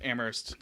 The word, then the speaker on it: Amherst: First of all, you don't pronounce the H.